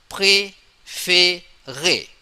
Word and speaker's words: préféré: And then the pronunciation e without sound is But when we put accent aigu, it become a sound. It become a sound like préféré.